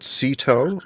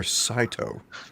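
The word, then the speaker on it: Cito: go uh more importantly is it sito or saito i think it's sito remember the baseball manager cedar gaston is his name doesn't he know how to pronounce it enough said there you go it's sito sito cash shadow uh cash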